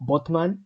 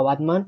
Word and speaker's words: Batman: No sé, creo que técnicamente se pronuncia como Botman o algo así, pero sé que es una ciudad que se llama Batman y que denunció a Warner Brothers.